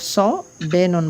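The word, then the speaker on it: صابن: আর উর্দুতে যেটা সদ আছে এটা আরবিতে আমরা স পড়ি না, অর্থাৎ স্বর অ এর উচ্চারণ আসে স, কিন্তু আরবিতে স পড়ি, কিন্তু উর্দুতে এটা সিনের উচ্চারণ চলে আসে সাবুন বলে এটাকে।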